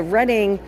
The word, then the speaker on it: Reading: You guys might know it as the Reading Railroad on the Monopoly board cuz everybody always pronounces it wrong. But it is the Reading uh again Reading, Pennsylvania where these guys are based out of.